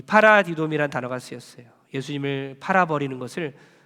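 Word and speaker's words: παραδίδωμι: 여러분, 헬라어 중에 파라디돔이라는 단어가 있어요. 파라디돔이 한번 따라하겠습니다. 좀 발음이 꼬이수, 도레미파솔 이러면 안 돼요.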